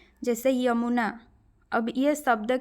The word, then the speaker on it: यमुना: में व्यव हुए हैं य का उच्चारण हिंदी में ज नहीं होता है कभी भी आप जैसे कि यमुना होता है ठीक है हम क्या बोलते हैं उड़िया में जमुना लेकिन वह हिंदी में क्या होता है यमुना ठीक है जबकि ओड़िया